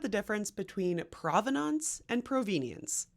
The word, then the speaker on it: provenience: Let's talk about the difference between provenance and provenience. And no, I'm not mispronouncing provenance. They are two different words that mean similar things in the art history archaeology world.